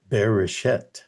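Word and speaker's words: בראשית: But what I learned recently is that the Hebrew is beerish, which has a similar sound phonetically to be reset.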